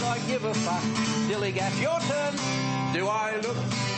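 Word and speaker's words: DILLIGAF: In a word, dillygaff. That's spelled D-I-L-L-I-G-A-F. Dillygaff.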